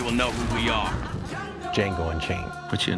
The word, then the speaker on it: Django: know who we are django unchained what's your name django d j a n g o the d is silent and soon the hateful